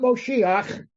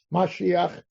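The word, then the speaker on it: מָשִׁיחַ: is God desire mosia that's not mosia that's a misin mispronounced word of mashiach that's the that's the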